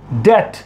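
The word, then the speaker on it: debt: जैसे कि मैंने आपको बताया था, यहां पर क्या है, ये है आपके लिए, ये है आपका वर्ड डेट। यहां पर बी क्या है? साइलेंट है।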